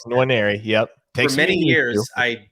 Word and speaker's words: Nwaneri: as a 5-star contender is Williams Nwaneri, right? That's perfect. That's the way to say it. That's the way. There you go, Nwaneri.